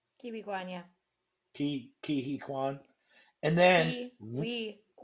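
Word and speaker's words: Ke Huy Quan: Okay, but then you follow that up with Encino Man, also with your boy Data Kihi Kwan. I think is that how Mm-hmm. you say his name? Kiwi Kwan, yeah.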